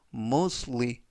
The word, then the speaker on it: mostly: 라고 발음 하시면 되겠구요 이때 발음의 유의하실 점은 알파벳 t 가 이번 단어에서 묵음 은 아니지만 발음할 때 거의 들리지 않습니다 그래서 뭐 스토리가 아니라 모스 위 모습으 라고 발음 하시면 좋겠구요 품사는 부사 뜻은 대부분